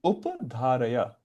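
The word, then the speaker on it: upadhāraya: How do you pronounce it, Prabhu? Upadharaya.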